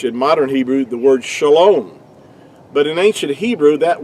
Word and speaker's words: shalom: It's pronounced really to be more accurately would be shalom.